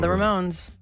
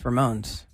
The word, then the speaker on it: Ramones: It's not the Ramones. It's Ramones.